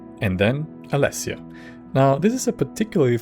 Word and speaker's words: Alessia: Saint Alessia is usually said like this. You need to find the Staff of Saint Alessia and return it to Surak at the Chapel of Talos in Bruma.